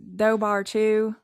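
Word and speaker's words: Dobhar-chú: No, it'd be like dough bar chew. Went down Is to the that? lake the other day and I saw one of them dough bar chews.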